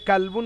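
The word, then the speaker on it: كلب: কা দিয়ে কালবুন মানে হচ্ছে কুকুর, আর ক দিয়ে কলবুন মানে হচ্ছে হৃদয়।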